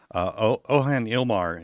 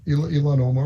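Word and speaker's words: Ilhan Omar: Ohan Ilmar, is that right? Right, Elon Omar.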